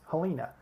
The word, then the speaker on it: Helena: mispronunciation of Helena uh here in Alabama we actually pronounce this helina but you could select